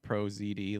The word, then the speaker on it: ProZD: It's good to get perspectives from ProZD is said like ProZD, like you would say D's nuts.